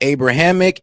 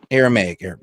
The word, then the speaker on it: Aramaic: He says Jesus spoke Abrahamic. And how do you say God and Abrahamic? Allah. Abrahamic is close. Yeah, Abrahamic is close to Arabic. Huh? It's Aramaic. Aramaic.